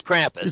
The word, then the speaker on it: Krampus: neck of the woods well if you're american it's krampus see now now we